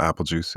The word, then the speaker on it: Apelegeuse: Hello, I'm Apelegeuse. It's Apelegeuse spelled like Beetlejuice.